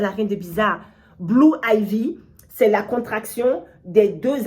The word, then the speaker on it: Ivy: vie donc par jour de mots IV pourquoi Ivy parce qu'en fait on chiffre romain le chiffre 4 s'écrit avec un I et un V donc